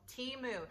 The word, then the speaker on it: Temu: Temu has told me it is actually pronounced tea as in a cup of tea and moo as in moo cow, so Temu.